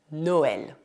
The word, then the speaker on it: Noël: Por fim, também é possível que o E tenha trema. Nesse caso, ele é pronunciado E, como na palavra Noël.